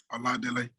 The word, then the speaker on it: Oladele: my initial uh my name is a lot delay so i'm nigerian i'm from the uba tribe